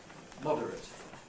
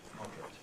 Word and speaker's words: moderate: example at the bottom to moderate verbs in at have a strong V to moderate the adjective most adjectives in at have a weak vow moderate which is therefore compressible into modate so that's the relationship